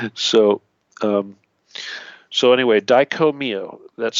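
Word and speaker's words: Dai Ko Myo: also known as the Daiko-myo.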